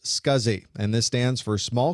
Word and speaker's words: SCSI: the drive was operational the abbreviation SCSI is pronounced scuzzy and this stands for